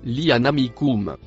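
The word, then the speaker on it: لأنعامكم: La lettre noire c'est la conjonction et le mot en bleu se prononce lianamikum.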